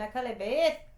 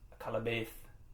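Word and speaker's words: Akallabêth: And Akalabeth. Yeah. Yes. Akalabeth. That's what I said. No, you didn't say it right. Akalabeth. Akalabeth. Akalabeth. Akalabeth. That's what I said. No, it's not.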